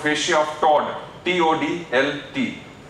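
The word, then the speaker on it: Toldt: The name of the anterior layer of renal fascia is called fascia of Todd, T-O-D-L-T. L is silent. So fascia of Todd.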